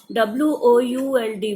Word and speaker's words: would: WOULD. Would. SHOULD. Should. COULD. Could. L is silent.